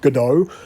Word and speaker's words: Godot: completely free and open source game engine named gotto or godot depending on how you pronounce these things godot is a fully open